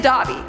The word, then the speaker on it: Dobby: dobie on the screen right now it is dobby okay bad dobby bad dobby harry potter must